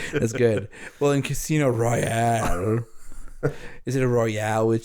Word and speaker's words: Royale: And Royale is how you say the word.